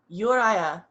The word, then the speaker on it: Juraj: you say it um you mean my name in our language yeah uh urai uraya and that's you were saying